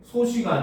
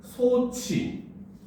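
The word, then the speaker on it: 솥이: 소시가 아니라 소치. 요렇게 돼야 되네.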